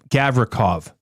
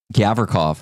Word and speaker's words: Gavrikov: And he's been having a hard time with Gavrikov. Gavrikov. He's been saying really? Gavra something else. I'm going to have to ask you after what that is. Yeah. Rhymes with sock.